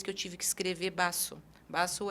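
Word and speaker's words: vaso: do espanhol né é o v em espanhol ele tem um som de B mas não é um B forte eu não vou falar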